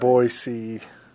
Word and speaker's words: Boise: Boise. Boise. Yep. We're nice people in Idaho, but don't mispronounce our names.